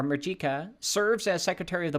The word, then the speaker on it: Mujica: Calabria Don Fernando borja muika is a top Mexican banker and criminal financier Don Fernando borha mu uh I think it's muika Mr Fernando borha muika or Mika serves as Secretary of